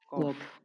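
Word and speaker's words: قاف: নুক্তা এটা কি হবে কফ ক কফ একটু টান দিয়ে বলবেন কফ কফ আর এটা ফা ফা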